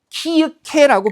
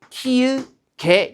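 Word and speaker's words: 키읔에: 기억으로 연하니까 얘는 키케라고 발음하지 않고요. 어떻게 발음해요? 키개 이렇게 발음을 한다는 겁니다.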